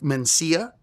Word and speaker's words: Mencia: lot, by the way, say my name with two N's instead of Mencia, are African Americans. African Americans, in a decent portion of them, will say Carlos Mencia, Carlos Mencinas, not Mencia.